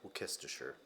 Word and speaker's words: Worcestershire: Which actually, that's how you say it, I guess. I heard a British person say it. Worcestershire. So the debate's been settled. It's not Worcestershire. It's Worcestershire.